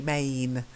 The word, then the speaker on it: mane: hey perfect and then again this long AE sound MAME a yeah because otherwise it sounds if you say it like vain and men it could be the plural of man men yeah so it's you've got to get that long a mane the next one again